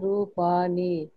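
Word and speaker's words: रूपाणि: Could you just pronounce this word again? Rupani. Yeah. Okay. So earlier I thought I heard Dantya, but any Murdh, it is Murdhanya.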